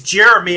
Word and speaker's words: Gerimi: my name is is jeremy and it's a really weird spelling when most people see it they think it's gemini but it's spelled g-e-r-i-m-i it's just jeremy like the pearl jam song nothing to do with